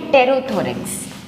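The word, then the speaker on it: pterothorax: तो इसका pronunciation tarot होता है, लिखते पी से हैं। तो इन दोनों को मिला के हम बोलते हैं टेरोथोरेक्स।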